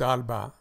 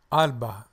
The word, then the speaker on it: Alba: 17 Acres the name of this Doc is Alba Alba Alba thank you for coming by I appreciate it